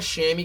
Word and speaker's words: chamois: It's not a chamois cloth. Chamois cloths are the ones, it'll say CHAMOIS. It's spelled differently than than the pronunciation.